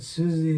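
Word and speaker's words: Siouxsie: don't know if you can see the way it's spelled here but Susie is about s-i-o-u-x-s-i-e it's very visible that's not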